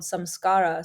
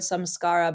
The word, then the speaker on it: samskara: the concept of this in India would be called samskara, something around. I always remember this word samskara because it has the word phonetically scar in it, which is us holding on to these painful pasts.